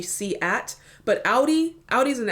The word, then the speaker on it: SEAT: now I get the the seat one from Spain it's actually C at but Audi Audi is